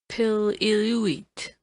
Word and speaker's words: Pil-iluit: A Kings River Indian told me that they call him Pil-iluit, which, rapidly pronounced with the first syllable heavily accented, is not unlike the lusty exclamation he utters on his way up a tree when excited.